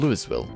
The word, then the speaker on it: Louisville: through them Eric says the s in Lewisville is silent okay no no hold up I got the music cut the music come color Closer Closer Closer are you stupid why would it be silent why is it dareden if you don't pronounce it why does it exist there let me guess you're